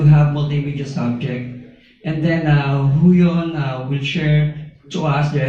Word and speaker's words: Huion: Sorry, how do you pronounce it? Huion. Huion.